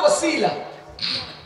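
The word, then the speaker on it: وسيلة: এটার উচ্চারণ হলো ওসিলা।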